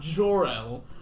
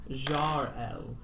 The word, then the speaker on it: Jar-El: Yes, I am indeed not Jor-El, but it is Jar-El, which is spelled with an A-R rather than an O-R.